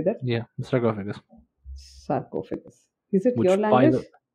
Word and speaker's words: sarcophagus: Yeah, sarcophagus.